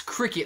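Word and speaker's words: Cricut: however you spell it it's cricket like cri like create and then cut because it cuts the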